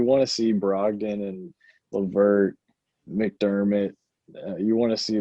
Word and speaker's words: LeVert: Turner and uh Chris Lever. Um, I always say his name wrong. Levert. Levert. Levert. I need to remember. It's like Levert and Shirley.